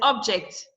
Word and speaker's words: object: There's object. Object. The second syllable, if it is a verb, the second syllable will be stressed. Object. The first syllable is stressed because it is a noun.